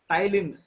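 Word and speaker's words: ptyalin: Tylin, here you may see the name. P is silent, Tylin.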